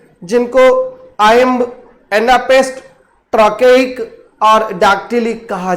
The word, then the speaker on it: iamb: 4 standard foot होते हैं जिनको आयम्ब, एनापेस्ट, ट्रकेइक और डैक्टिलिक कहा जाता है।